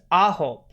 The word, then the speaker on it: AHOF: Oh, it's Ahop. What? Yeah. Yeah, so it's like the word for 9 in Korean, but they do an F instead of a B.